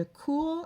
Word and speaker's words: cours: So the C-O-U-R-S and the C-O-U-R-T are spelled or are pronounced identically, even though they're spelled differently.